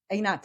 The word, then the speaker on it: Einat: to Israel um I I mean is it pronounced it's anat anat yes an anat um yeah I'm hesitant to